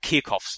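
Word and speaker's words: Kirchhoff: need to know and they're called kof laws that's spelled k i r c h HF sort of a weird spelling I think it might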